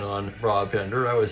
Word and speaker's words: Brabender: And a thanks go out to Kenyon for the pronunciation on Brabender.